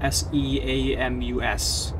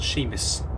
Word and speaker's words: Seamus: i have given him a name it is sheamus sheamus the shadow leviathan uh this shame is spelled s-e-a-m-u-s don't you think it might be pronounced seamus but no experience sheamus and yeah well so i'll start constructing your